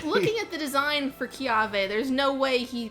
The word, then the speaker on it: Kiawe: If it's in the middle of the word somewhere, it's a V.